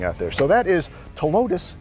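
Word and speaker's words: Ptilotus: there so that is to lotus the p is silent joey improved hey check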